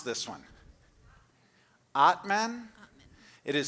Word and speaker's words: Atman: Atman? It is spelled A-T-M-A-N, and Georgia is another one of our artists who continues to support us year after year.